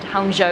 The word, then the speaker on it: Hangzhou: Hangzhou, it's how it's pronounced.